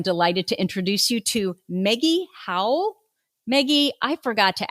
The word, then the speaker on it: Meggie: to introduce you to Maggie Howell Maggie I forgot to ask you is that how you pronounce your name hi Tracy my name is it's French Maggie okay oh my gosh